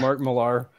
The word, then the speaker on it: Millar: you're ending yeah Mark I know it's pronounced Miller but it's spelled Millar so I'm gonna call her Mark Millar um that's Scottish bastard